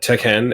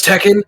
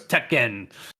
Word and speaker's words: Tekken: she misprint or when when she said Tech hen everyone was like first note how you pronounce Tekken but like it was